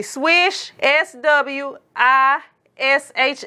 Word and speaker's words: Swishh: gonna make sure that I'm saying it correctly swish SW i Sh H so it has two